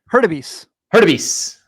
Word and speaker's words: Hurtubise: They were Reese Hines, and please forgive me when I mispronounce this, not if. Jacob Hurtubise. Hurtubise, how do you say that? Hurtubise.